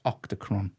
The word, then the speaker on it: Octachron: It's Octachron.